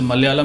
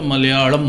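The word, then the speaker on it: മലയാളം: जैसे मलयालम नहीं होता, मलयालम होता है। और मैं भी उसको ढंग से नहीं उच्चारण कर पा रहा हूँ, पर यदि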